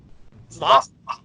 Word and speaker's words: Lough: It's Lough. I say Loft. Like Loft. I watched some of his videos. It's like Brian Loft. Okay. Cough. Yeah, like cough.